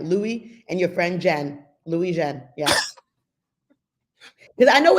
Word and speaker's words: Louijeune: So, Counselor Anderson yesterday told me that you like the beginning to say like Louis, as in Vuitton. Yes. Louijeune. Oh, I'm glad she taught you. Yep, it's exactly like that. Louis and your friend Jen. Louijeune.